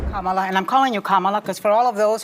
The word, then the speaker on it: Kamala: Kamala, and I'm calling you Kamala because for all of those who are mispronouncing it, I want you all to know how to say it.